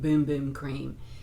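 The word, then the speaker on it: Bum Bum Cream: It's the Sol de Janeiro, and they pronounce it Boom Boom Cream, but it's a small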